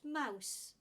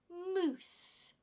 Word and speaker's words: mousse: word it is pronounced Mouse this is a dessert it has two s's and it is pronounced as moose okay mousse so when